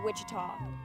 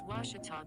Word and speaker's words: Ouachita: oh a cheetah back in texas everybody pronounces it wichita but really it's ouachita washington washington how would you pronounce it it's washita baptist university get it right it's washi talk